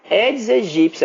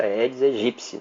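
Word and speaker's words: Aedes aegypti: edes egípcio edes egípcio a pronúncia Correta que eu ensinei para vocês edes egípcio tem um podcast falando como se pronuncia corretamente e eu explico o por que a pronúncia eds egípcia não é a eds egipte também tem material só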